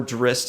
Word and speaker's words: Drizzt: Drizzt, or Drizzt if you want to say it right, as I've gone